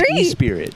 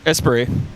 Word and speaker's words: Esprit: I always read it as E-Spirit. Esprit. Esprit. The T is silent.